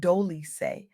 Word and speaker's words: Dolce: I'm Dolce, pronounced Doly, like sweet softness whispered in French.